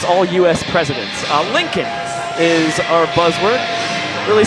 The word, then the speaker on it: Lincoln: Josh, can you spell it for the people? That is L I N C O L N Lincoln.